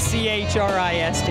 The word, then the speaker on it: Christ: It's spelled different. Mine's C-H-R-I-S-T.